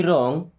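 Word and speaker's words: wrong: यू are getting me रॉन्ग, you means आप, are means हैं, getting समझ रहे हैं, यू आर गेटिंग आप समझ रहे हैं, मी मीन्स मुझे, रॉन्ग यहाँ पे डब्ल्यू साइलेंट हो के रॉन्ग, रॉन्ग मीन्स होता है गलत।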